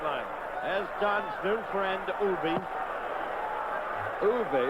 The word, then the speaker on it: Uwe: As Don's new friend, Uwe. Uwe, it's not Uwe, it's E-U-W-E. How you pronounce it? It's Uwe. See there? Uwe.